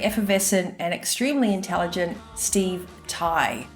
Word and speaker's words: Tighe: So today I have managed to second from way down south the very effervescent and extremely intelligent Steve Tighe. Steve has a silent G in his name, by the way, so